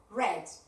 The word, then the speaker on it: read: book, y la segunda, cuando pronunciamos en pasado, va a sonar como el color rojo. Red.